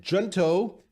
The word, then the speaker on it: Junto: I think it's Junto.